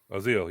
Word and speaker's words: Azil: Azil? Zeal? Azil, yes.